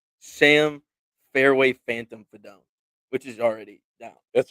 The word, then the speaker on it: Fidone: Yeah, Sam Fidone pronounced Fidone like the sound your driver makes when you top it.